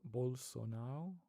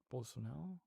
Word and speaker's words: Bolsonaro: Yeah, so you don't pronounce the R, right? So it's Bolsonaro. Bolsonaro.